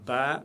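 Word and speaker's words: باء: Ba, toujours légère, aucune exception. C'est le B de la langue française prononcé légèrement. Donc comme je l'ai dit, c'est Ba. Ba, c'est prononcé légèrement. Ba, pas d'exception. On ne dit pas Ba. Ba. Ba, c'est faux. Dans la langue arabe, on dit Ba.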